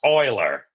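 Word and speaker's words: Euler: of the house uler because if you're GNA pronounce Oiler I'm like no no no no no no that's Oiler loos's got an Oiler right there that's how I say Oiler I say this I'm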